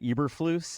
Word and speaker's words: Eberflus: but I always say his name wrong. Matt Eberflus, is that how you say it?